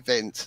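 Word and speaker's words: Wind: So Vind, as it's pronounced, came second in 1985 and 1987, 2 times.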